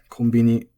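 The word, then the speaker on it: コンビニ: Konbini is also flat.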